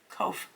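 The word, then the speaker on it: Qoph: behind the Mind I.E oh co kof kof sorry I pronounced that that's a q kof back of the head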